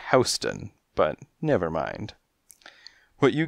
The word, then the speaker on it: Houston: of 14th Street and north of Houston pronounced as Houston but never mind what